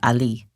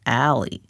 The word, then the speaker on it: Ali: which is her given name, and Ali, which some people pronounce as Ali, like the Middle Eastern man's name, and others pronounce it as Ali, as if it's an abbreviation of Allison.